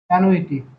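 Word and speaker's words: annuity: দেখ, ধরো হবে অ্যানুইটি, অ্যানুইটি, আছে অ্যানুইটি, উচ্চারণটা হচ্ছে এরকম, অ্যানুইটি, এর বাংলা হচ্ছে বৃত্তি।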